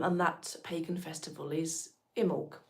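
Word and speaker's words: Imbolc: Um, and that pagan festival is Imul. It's spelled I M B O L K.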